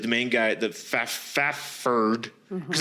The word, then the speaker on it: Fafhrd: Basically, they're like Conan, like the main guy, the Fafherd, because it's spelled Fafhrd.